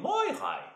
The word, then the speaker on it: Moirai: pour la prononciation de Moirai, il faut le dire avec comme si on te pinçait les couilles sur le Moi, Moirai.